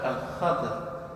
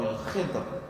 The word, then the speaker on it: Al-Khidr: un serviteur qui s'appelle Al-Khadr ou Al-Khidr ou Al-Khudr, ça dépend comment vous prononcez, toutes les prononciations sont bonnes.